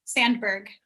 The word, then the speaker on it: Sandberg: are you familiar with uh cheryl sandsberg sam sandberg's book lean in yes okay so she she talks about so for those of you that don't know that sheryl sandsberg was am i pronouncing your name right sandberg sandberg yeah so she was senior in facebook